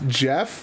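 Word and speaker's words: Geoff: Two, we got to go give our boy, they said his name is Goff, pronounced Jeff.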